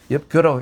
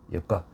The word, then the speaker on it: 엽각: 그 엽각이라고 그리 봅니다. 엽교라고 읽으면 안 되죠. 엽각.